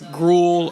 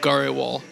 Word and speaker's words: Grewal: grindle wall like um it gets it gets GRL I've been called GRL before um it's just the way I guess it's spelled yeah it's it's like should sound like